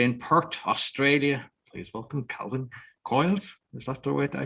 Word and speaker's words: Calvin Coyles: Today, my guest, all the way in Perth, Australia, please welcome Calvin Coyles. Is that the way I pronounce?